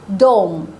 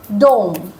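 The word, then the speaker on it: dome: এখানেও ও এম কিন্তু প্রথম ওয়ার্ডটা কি হচ্ছে দোম দোম রাইট ও সাউন্ড দোম আর পরেরটা এস ও এম কিন্তু এটার উচ্চারণ হবে সাম সাম কারণ এখানে আ সাউন্ড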